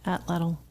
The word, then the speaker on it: atlatl: They their major weapon was called an atlatl. Did I say it right? Atlatl.